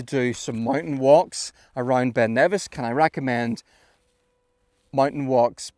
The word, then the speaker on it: Ben Nevis: How to pronounce Ben Nevis? Ben Nevis.